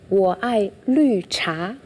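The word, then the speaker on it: 我爱绿茶: Das heißt auf Chinesisch, wo ai lü cha. Wo ai lü cha.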